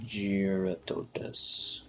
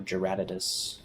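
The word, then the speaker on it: Jyuratodus: investigations okay let's go check out giaratodas or jarratidus i pronounce it gerototis go check out geratotus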